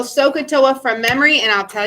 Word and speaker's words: SOHCAHTOA: So, normally in English, so is spelled S-O. But we got to have 3 letters. So it's S-O-H. Ka. You can hear the A there.